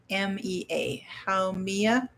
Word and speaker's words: Haumea: I'm not sure if I'm going to pronounce this right, but it says take Haumea. It's Haumea.